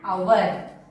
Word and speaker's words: hour: So here H is silent. O-U-R. We will pronounce that as our. So O is a vowel. So we will be writing as an hour.